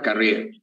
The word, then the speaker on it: Carrié: Mi apellido se pronuncia Carrier o Carrier, pero Carrier. Ah, no, Carrier. Sí, es. Entonces, Carrier.